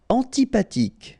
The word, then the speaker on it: antipathique: Antipathique. So remember, this H doesn't exist phonetically, so antipathique. Okay, final E not pronounced. Antipathique.